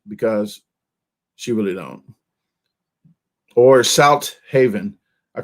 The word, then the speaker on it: Southaven: she really don't or South Haven I call it South Haven instead of South Haven because there's only one H so you got to say South Haven or South Haven okay folks or Mimi's